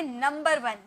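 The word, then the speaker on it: number: बोलोगे नंबर वन न नंबर वन जी नहीं आर आप साइलेंट कर देना आप बोलना नंबर वन नंबर वन नंबर नंबर नंबर नहीं नंबर वन आर को एकदम बोलना ही नहीं है आर को एकदम नहीं उसकी प्रोनंसिएशन बिल्कुल भी नहीं होगी यहां पे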